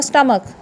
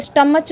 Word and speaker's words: stomach: STOMACH, ये क्या होगा, H यहाँ पे साइलेंट करना है तो क्या होगा, स्टमक। क्या होगा, स्टमक। तो यहाँ पे स्टमच नहीं बोलते, कुछ बच्चे स्टमच बोलते हैं, यहाँ पे होगा स्टमक। TECHNOLOGY, तो ये क्या होगा, टेक्नोलॉजी।